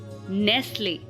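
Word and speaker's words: Nestle: silent कब होता है जब एस टी एल किसी वर्ड के पीछे जड़ जाता है जैसे कि सी ए एस टी एल ई डब्लू आई एस टी एल ई एनई एसटी एल ई तो यहां पर इन वर्ड्स को हम ऐसे पढ़ते हैं कैसल विसल नेसले ओके टी यहां पर साइलेंट है अब अगर टी के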